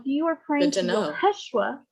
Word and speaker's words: Yeshua: are praying to know yeshua that is the hebrew pronunciation of jesus of nazareth if you are praying